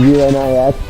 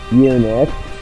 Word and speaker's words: Unix: Like, you know, it's a pun because EUNUCHS and UNIX are pronounced the same way. Unix.